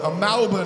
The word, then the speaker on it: Melbourne: Melbourne, or if you live in this city, you affectionately call it Malbourne. I don't know whether Mal is in it, but let's call it, Malbourne is how you say it, right? I've been saying it wrong for ages because I'm from Sydney,